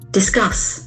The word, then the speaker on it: discuss: It has got two syllables accent for the second syllable discuss discuss discuss to talk